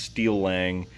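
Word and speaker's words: Steeleng: to and the and the name is pronounced steel lang it's s-t-e-e-l-e-n-g that's also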